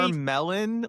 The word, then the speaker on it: Charmeleon: Charmelon, like what is that name?